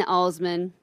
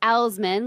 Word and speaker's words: Alsman: on the the Twitter on its J in Osman and that's ALS ma n which is not pronounced Al's men like former college roommate from Michigan she could